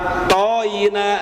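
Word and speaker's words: ط: Inna a thy tidak boleh. Gitu bajar tidak a thy tidak boleh harus th.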